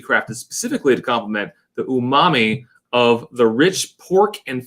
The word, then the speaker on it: umami: Because you pronounce umami. Umami.